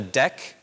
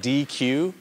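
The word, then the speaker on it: deque: It's called a DEQ, but it's spelled like DQ, D-E-Q-U-E. That data structure will give you constant time access at the beginning, at the end. So that's a special thing. It's pronounced DEQ, actually, but it is like a DEQ. That's how it's spelled. Personally, I prefer saying DQ also, but who am I to decide that?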